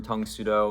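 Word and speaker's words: Tang Soo Do: who coined the term Tung Sudo, which was just the Korean pronunciation of Karate Do, Tung Sudo being Korean.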